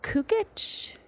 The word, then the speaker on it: Cukit: guest in the Stuart Title Corporate Offices Paul cukit did I pronounce that correct you were perfect on that